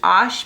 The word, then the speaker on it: Arches: And the brand I prefer is Arches or correctly pronounced because it's French is ash, but here in the United States of America, we say Arches.